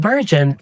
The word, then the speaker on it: burgeon: We pronounce it like this: burgeon /ˈbɜːr.dʒən/ Say it like: BUR-jən (stress on the first syllable) Common collocations: • business